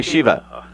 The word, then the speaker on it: Shiva: You can just call me Shiva. Dr. Shiva. Busher, How yeah. do you spell that?